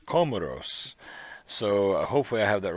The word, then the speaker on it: Comoros: back all right so i called it kamaros according to wikipedia the pronunciation is comoros so hopefully i have